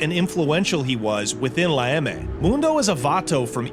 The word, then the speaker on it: La EME: San Quentin State Prison, where he made his bones and became a fully validated member of La EME, the Mexican Mafia. La EME, okay, chat, that's how you pronounce it.